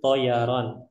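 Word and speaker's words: طيران: Baik, al-qiraah cara bacanya ana adrusut toyaron, tidak ada tasdidnya.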